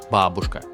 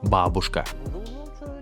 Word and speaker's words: бабушка: In Russian, grandma is babushka. I know English speakers often read it as babushka, but the correct pronunciation is бабушка.